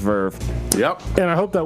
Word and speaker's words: Verve: what Verve is it's it's the RV that's what everybody think that it's called but it's actually pronounced Verve yep and I hope